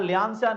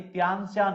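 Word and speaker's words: Tian Shan: यहां ल्यांसियान नहीं, त्यांसियान होगा, ठीक है, त्यांसियान।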